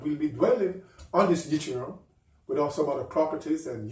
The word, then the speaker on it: yttrium: Let's take a break, and we'll return to our yttrium correct pronunciation, yttrium.